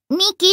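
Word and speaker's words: 未来: 未来って書いて、ミキって読むって。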